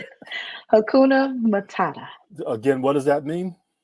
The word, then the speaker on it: Hakuna Matata: So how do you pronounce that? Hakuna Humana? Hakuna Matata.